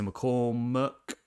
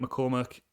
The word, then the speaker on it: McCormack: bitcoin did by peter mccormuck i think mccormack is how you say his second name um now peter's views